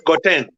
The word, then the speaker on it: Gauteng: The Ugandan said, oh no, it's pronounced as Gauteng. What? You can't see H in this word.